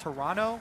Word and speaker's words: Toronto: I was told actually by a tweet it's pronounced Toronto with no uh no T oh yeah today